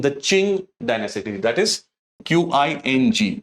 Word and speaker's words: Qing: the dynasty being the Qing Dynasty, that is Qing, pronounced as Qing Dynasty.